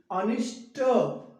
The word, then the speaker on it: अनिष्ट: अनिष्ट नहीं, ठ नहीं आना चाहिए। अनिष्ट, अनिष्ट, ट अंत में क्या आएगा? ट, ठ नहीं लगाना है।